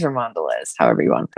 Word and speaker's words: Mondelez: well it wasn't hibiscus but I think it's Mondelez now oh I don't know the second word it's a Giant Food corporation that owns um many brands of different foods but I'm pretty sure it's Mondo and Mondelez or Mondelez however you want to pronounce it